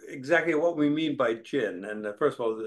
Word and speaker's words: jin: to go over exactly what we mean by jin. And first of all, it's spelled J-I-N.